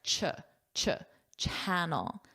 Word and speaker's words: channel: Notice the pronunciation here. Ch-ch channel. Not sh channel.